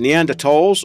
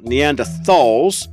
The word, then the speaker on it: Neanderthal: Neanderthals part one now whether you want to pronounce it in the end the tolls or the end of Thals this is probably the